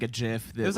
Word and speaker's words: GIF: yeah, A GIF? a GIF. Like the peanut butter? Yeah. He was a jar Yummy. of peanut butter? yes. That's the correct.